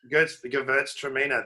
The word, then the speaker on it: Gewürztraminer: And I've forgotten how to pronounce it, Andrew. What's the Gewürztraminer? Gewürztraminer.